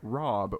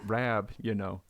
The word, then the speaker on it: Rab: I only ever hear Rob or Bob, right? I'd never really thought Rab, I do find a lot of folks from the States do call me Rob, or they can't pronounce the Rab bit.